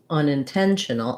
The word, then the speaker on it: unintentional: But for unintentional, we have the main stress is unintentional on the 10 syllable. So our on, in are short, and those basically are written just like they sound, un, in.